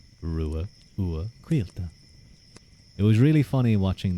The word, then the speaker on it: Ruadh: in name pronunciation H well my name was pronounced Ru uila Ru U quila it was really funny watching that myth guy